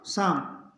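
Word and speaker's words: psalm: का इसमें उच्चारण नहीं होगा पी इसमें साइलेंट रहेगा pneumonia P एस वाई सी एच ओ एल ओ जी वाई तो इसको पढ़ेंगे psychology P एस ए एल एम साम तो इसमें पी का उच्चारण नहीं होगा पहले पढ़ेंगे निमोनिया साइकोलॉजी साम साम का मतलब होता है भजन करना निमोनिया बीमारी या साइकोलॉजी मनोविज्ञान तो पी के बाद यदि ए हो और पी के बाद एस हो तो पी रहेगा साइलेंट ये ध्यान रखना है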